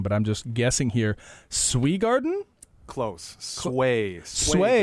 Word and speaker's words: Swegarden: Swegarden? Close. Swegarden. That would have actually been my natural inclination, was to read E as an A.